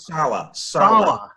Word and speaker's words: Saleh: Sele is how do you pronounce it? Sala? Robert Saleh.